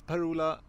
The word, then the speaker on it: Per-Ola: My name is Per-Ola. Yes, it's pronounced like that.